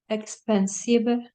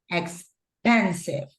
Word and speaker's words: expensive: So we have expensive. It's the stress is in pen. Okay, let's put it right here. The pronunciation is expensive, like this, right?